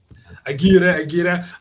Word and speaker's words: Aguirre: the head coach, Xavier Aguirre. I think it's Aguirre, but nailed it. Aguirre.